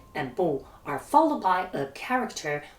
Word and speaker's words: 不: When E and Bu are followed by a character with the fourth tone, they both change to the second tone.